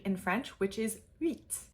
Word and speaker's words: huit: We are often taught in English to think of this as wheat, like what you make flour from, which isn't that far off base. It's not a terrible pronunciation by any means, but it's not quite there either. So I want you to think of that monkey sound and mixed with ew, and then you have u, and then eat at the end, eat, eat.